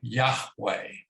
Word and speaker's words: Yahweh: to me well um in hebrew and in other languages like uh german for instance j is pronounced like a y uh so yahweh is the name that's